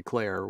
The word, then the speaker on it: Clare: So Kevin Clare is obviously kind of a weird spelling to us Americans. It's a weird spelling. But then she has in parentheses after it's Kevin Clare, spelled like we would say Claire.